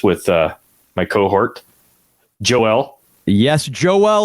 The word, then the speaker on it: Joel: Yes, Joel Which kind of sounds like Noel. Yeah. It kind of rhymes with Noel, Joel.